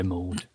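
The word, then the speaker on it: Maude: the cabinet office Minister Francis mod am I saying it right Steve attempt to particularly know nor does it m-a-u-d m-a-u-d-e yeah mode believes a significant proportion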